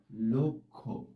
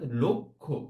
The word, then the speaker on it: লক্ষ্য: এটার উচ্চারণ হবে লক্ষ্য। দেখেছো এখানে দুটো উচ্চারণ এরকম ওকারে পৌঁছে গেছে, অর্থাৎ একটা সংবৃত উচ্চারণ আমরা বলি এটাকে। আর আগের যে উচ্চারণটা সেখানে আমরা একটা বিবৃত উচ্চারণ করেছি, লটাকে একদম ল বলেছি, আর এখানে বলেছি লো, তারপরে আবার ক্ষীয়টাকে আমরা বলেছি খো, অর্থাৎ লক্ষ্য।